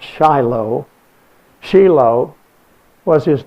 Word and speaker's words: Shiloh: was called Yigal Shiloh, spelled just like we pronounce Shiloh.